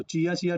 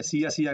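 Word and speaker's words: Cia-Cia: तो चिया चिया tribe या सिया सिया tribe भी बोल देते हैं कहीं कहीं, है ना। चिया चिया भी बोलते हैं, सिया सिया भी बोलते हैं, तो आप जो प्रोनाउंसिएशन करना हो कर सकते हैं, बस जानने से मतलब है ना।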